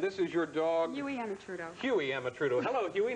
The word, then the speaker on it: Amatrudo: You're Louise Emma Trudeau, is that close?